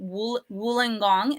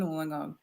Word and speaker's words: Wollongong: And then you, though, live on the side down here called Wollongong.